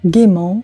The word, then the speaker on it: gaiement: «Э» немое не произносится после гласного звука. «Gaiement», «le dévouement», «il étudiera», «vous jouerez», «ils crieront», «ma belle amie», «il oubliera».